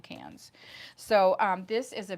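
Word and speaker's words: Cairns: c i r ns which a lot of people will say cannons but if you live in Australia it's called cans.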